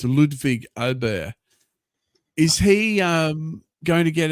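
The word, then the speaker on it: Ludvig Åberg: But, so let's hope actually I saw a post of him showing us how to pronounce his name. It's Ludwig Ober.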